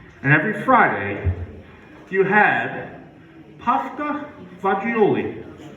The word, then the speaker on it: fagioli: And every Friday, you had pasta fagioli. Let me spell that for you. F-A-G-I-O-L-I. Pasta fagioli. No. Wrong again. Pasta fagioli. What the hell? F-A-Z-Z-U-L-E? Fagioli.